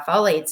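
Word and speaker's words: phthalates: it does it have folates in it and again it's not spelled like it sounds it's p h t a l A tes um look for that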